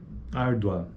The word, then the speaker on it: árdua: Ele é crescente porque, ó, árdua, árdua, é a segunda vogal que tem proeminência acentual. Esse U, ele praticamente some. Não é que ele some, mas ele é menor. Árdua.